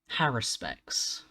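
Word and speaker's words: haruspex: It is Haruspecs. See, now even I'm questioning how to say it because it's one of those words that I've only ever seen written down. I've never actually heard anyone. Haruspecs. An emphasis on the r specifically, not Haruspecs.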